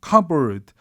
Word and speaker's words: cupboard: 돼요 찬장이 영어로 뭐죠 카버드 cupboard이지만 피가 발음이 안 돼요 이런 단어들이 토익에 잘